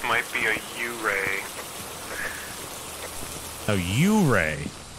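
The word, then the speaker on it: yurei: A U-ray? Everyone always pronounces it Yuri, and then everyone giggles, but it's technically U-ray.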